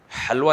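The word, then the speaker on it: حلوہ: हुलिया हलवा होता है हलवा हालांकि लिखा लिखा कैसे जाता है? तुम लोग को इतना शौक है हलवे का ना कुछ हलवा लिखा जाता है से लेकिन पढ़ा कैसे जाएगा हलवा तो यह कुछ बातें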